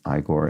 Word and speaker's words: Igor: I the character igore who pronounces his name igore in that film as